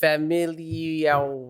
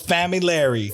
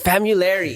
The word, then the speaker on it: Familara: Please welcome to the show, Familara. I forgot how to pronounce it already. It's all good, bro. It's Familari. Familari. Yeah. Familari, guys. That's Italian. Hey.